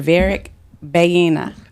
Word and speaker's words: Varick Baiyina: And today, I am honored to have Mr. Varick Baiyina. Absolutely. Did I say it right? You said it right, Brik Chick.